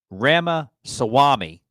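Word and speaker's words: Ramaswamy: Donald Trump anti-woke businessman Rama Swami I finally said it right wow yay applaud me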